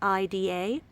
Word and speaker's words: Ida: It's spelled I-D-A. But in Denmark, it's actually a Danish name and it's pronounced as Ida.